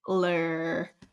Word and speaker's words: Schlittler: Schlittler. I don't want to mispronounce his name.